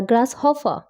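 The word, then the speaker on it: grasshopper: দি অ্যান্ট এন্ড the glass Hoffa মনে রাখবে এর উচ্চারণটা হলো গ্রাস হ ফা গ্রাসহফা দি অ্যান্ট মানে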